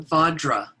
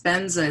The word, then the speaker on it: Vajra: And the reason it's Benza is the Tibetans don't have a V in their language. So they tend to pronounce Vajra as Benza. Both are correct. You can say either, doesn't matter.